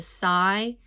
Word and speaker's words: sigh: said Grasshopper with a sigh. Now, in that word sigh at the end, it's the GH is silent.